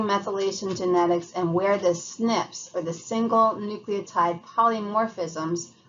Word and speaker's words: SNP: a single nucleotide polymorphism abbreviated SNP pronounced snip is a variation in